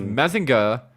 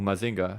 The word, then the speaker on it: Mazinger: a live-action mozingo um because mazinger or mazinga however you want to pronounce it it's both correct um a lot of